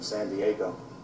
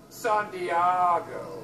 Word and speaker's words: San Diego: You messed with somebody from San Diego. It's actually pronounced San Diego.